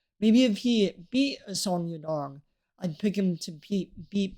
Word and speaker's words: Song Yadong: But Piotr Jan's still beating Yang Sedong. Please, please tell me I said that right and I'm not racist. Yeah, I was about to say Song Yadong. I said it wrong.